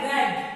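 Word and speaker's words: read: Have लगा, I have रेड, रेड यानी कि रीड का थर्ड फॉर्म, रीड का थर्ड फॉर्म रेड कहलाता है, लेकिन स्पेलिंग सेम रहती है। रीड उसका प्रोनाउंसिएशन अलग हो जाता है, जैसे रीड फिर सेकंड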